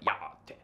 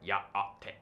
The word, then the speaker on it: yá'át'ééh: tones, ish-ah versus ish-ah, and glottal stops in words like ya-ah-te. I can't even pronounce that right. Ya-ah-te.